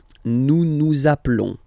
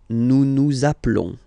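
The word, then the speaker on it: appelons: Zaplon zaplon. Okay. Final s doesn't exist.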